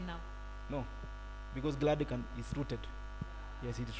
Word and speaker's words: Gladican: No, it's not Gladison, it can be pronounced as Gladican. Let me force everybody to say Gladican.